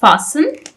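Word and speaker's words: fasten: यह जो वर्ड है हमारे पास फासन इसमें लेटर टी जो है यह हमारे पास साइलेंट है। इसको आपने प्रोनाउंस नहीं करना लेकिन आपने इसको लिखना जरूर है।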